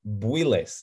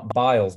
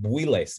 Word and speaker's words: Builes: It's David Builes, not Biles, but Builes, B-U-I-L-E-S.